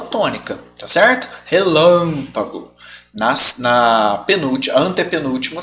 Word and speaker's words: relâmpago: Então você chama relâmpago. Ó, sílaba tônica tá aqui. certo? Não é a última, não é a penúltima, é a antepenúltima.